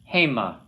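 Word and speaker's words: המה: Haim. Hema. Accents on the first syllable there.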